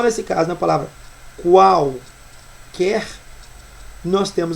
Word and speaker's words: quer: O é pronunciado já na palavra quer não existe a pronúncia do U né aí nesse caso